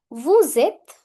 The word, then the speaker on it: vous êtes: Vous êtes. Vous êtes. Here what's happening, s will overtake the sound of e.